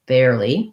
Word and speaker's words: barely: so bear this kind of bear is the same as b-e-a-r those two are the same they both have the air diphthong and then the li is just a tense e vowel barely for syllable stress um if you have